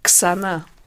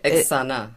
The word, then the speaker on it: Xana: Xana. You pronounce the X. Okay, Xana.